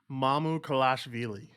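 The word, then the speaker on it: Mamukelashvili: also played 18 minutes ready for this ready mamu kalashvili that's how you say it i i've watched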